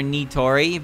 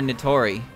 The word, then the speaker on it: Nitori: way their name sounds when i use proper pronunciation although i like kawashiro but i don't like calling her nitori because it it it sounds weird nitori i like calling her natori because natori sounds more correct in my um